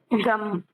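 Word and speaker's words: ग़म: அடுத்த அர்த்தம் கம். கம்னா கவலை. ஜேகா போட்டு மா போட்டிருக்கு. க மா எழுதியிருக்கு. ஆனா உச்சரிக்கிறப்ப கம். கம் கவலை.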